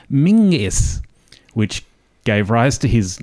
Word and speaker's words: Menzies: and who was Robert mens's born in 1894 in Victoria Robert menes was proud of his Scottish Heritage and preferred his surname to be pronounced in the traditional Scottish manner as mingis which gave rise to